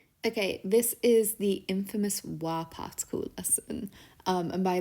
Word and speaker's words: は: in a word it is ha however when we use it as a particle it is W it's pronounced W this is why you might occasionally